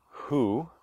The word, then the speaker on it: Hu: of the divine being, Hu, which has the U sound in it, Hu is the only one that humans can pronounce.